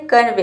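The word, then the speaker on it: convey: जैसे कि देखिए यहाँ पे एग्जांपल है कन्वे, इसमें भी के बाद ई वाई आया है तो यहाँ पे ई वाई को हम ए प्रोनाउंस करेंगे। सी का हो जाएगा को और एन का हो जाएगा आधा न, वी का हो जाएगा व और ई वाई का हो जाएगा ये हो जाएगा कन्वे।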